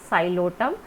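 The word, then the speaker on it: Psilotum: Number one class is Xylotum. Here P is silent, and the example of this Xylotum, one species is Xylopsida and the species is Xylotum.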